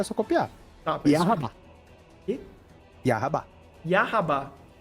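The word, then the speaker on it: Yhwach: porque agora o Aizen pronunciou o nome dele, então agora é só copiar. Porque o Aizen falou, tá, é só copiar. Tá, mas- Yahabá.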